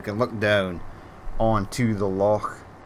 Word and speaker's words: loch: look down onto the loch. That's how you say it in Scotland, loch. You need the at the end.